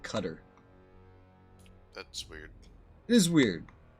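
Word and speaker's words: Qatar: operated in that region apparently they call it cutter that's weird it is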